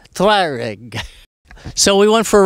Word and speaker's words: Tuareg: uh aprilia uh tuareg how do you pronounce that properly tuareg twyrig so we went for